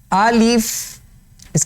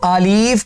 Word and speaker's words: الف: اللہ الرحمن الرحیم۔ الف، الف اس کا صحیح تلفظ ہے الف، ٹھیک ہے نا جی۔ نہ تو اس کو آلیف کریں گے، ٹھیک ہے، نہ الف نہ الپ، یہ اس کے وہ